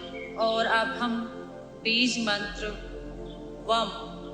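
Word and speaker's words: वं: पर ले आइए और अब हम बीज मंत्र वम बी ए एम वम का उच्चारण करेंगे और इस वम की एनर्जी को अब्सॉर्ब करेंगे।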